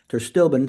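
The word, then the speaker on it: pterostilbene: I think terstilbin, spelled with a P, is a better alternative because it's much more bioavailable.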